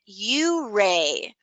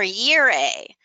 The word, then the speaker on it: Ouray: language is pronounced hooray the local townspeople of Ouray Colorado say it you Ray or year a well here in the building we tend to pronounce it you're a hey you Ray you know what I